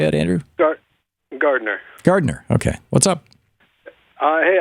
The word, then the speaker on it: Gardiner: Gardner.